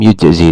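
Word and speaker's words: يجزئ: Maka di sini bacanya yang benar adalah lam yujzi tidak mencukupi berarti tidak boleh.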